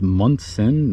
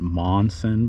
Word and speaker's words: Munson: We have Elizabeth Betsy Munson Bailey, quite the name. She is from Hartford, Connecticut, born in 1804. It's Munson, not Monson, by the way, on her headstone.